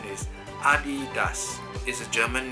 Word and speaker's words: Adidas: like leaders leaders right but actually the correct pronunciation is Adi does is a German name founder is at of